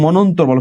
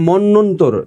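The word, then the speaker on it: মন্বন্তর: গেল অধম পরীক্ষায় আসছে মনন্তর কি আসছে পরীক্ষায় আসছে মনন্তর মনন্তর মনন্তর না এটা মন্যন্তর উচ্চারণটা আমরা ভুল বলি এটা মানে মন্যন্তর হবে উচ্চারণটা এটা উচ্চারণটা একটু ভুল বলি আমরা এ কারণে আমি বারবার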